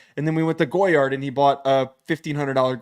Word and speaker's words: Goyard: don't really love that you pronounced goyard like goer like that that's not really what I'm looking for how would you pronounce it goyard it's goyard it's like Gogurt it's goyard it's not goard goyard oh I'm going